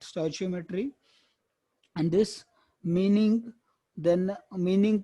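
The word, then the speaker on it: stoichiometry: कुछ लोग इसको अलग अलग बोलते हैं, कुछ स्टोइचियोमेट्री, कुछ स्टिचियो अलग ही बोलते हैं, पता नहीं वो दूसरे लोग क्या क्या बोलते हैं, बट स्टोइचियोमेट्री इज the correct pronunciation, you कैन use that, स्टोइचियोमेट्री।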